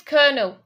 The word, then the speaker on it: colonel: So, how do you pronounce this other word that's a number 11? Colonel. Yeah. Basically, it's colonel.